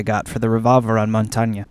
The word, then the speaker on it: Montagne: All memes aside, today we're going to talk, as requested, about Montagne. And yes, that is how you pronounce it.